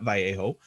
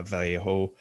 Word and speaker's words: Vallejo: i mostly use uh vallejo um that's how it's technically pronounced i guess but most people throw in the l which is fine because i usually do too but yeah so